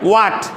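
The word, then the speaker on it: what: ও নাই বুঝতে পারছো এখানে ও এইচ এর উচ্চারণ হবে না বলো হোয়াট হোয়াট এটা ব্রিটিশ উচ্চারণ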